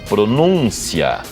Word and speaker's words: pronúncia: aqui a página, observe, essas duas palavras são idênticas, não são? São. A única diferença o acento. O acento. Tá aqui, então, pronúncia. E aqui pronuncia, pronuncia, o verbo pronunciar. Então, para observar como o acento é importante.